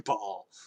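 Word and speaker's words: Baal: oh you play diablo they all say bail which is actually incorrect it's actually ball but i mean no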